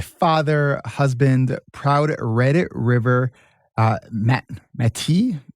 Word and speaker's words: Métis: Donavan is a father, husband, proud Red River Métis. Did I say it right? Métis? Métis, yeah. Métis citizen.